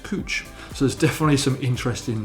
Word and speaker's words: Couch: there should be pronounced couch this is pronounced cooch so there's definitely some